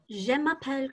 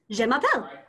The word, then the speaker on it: Je m'appelle: Just repeat after me. Je. Je. Ma. Ma. Pel. Pel. Great. Okay, just faster. Je. Je. Ma. Ma. Pel. Pel. Je m'appelle.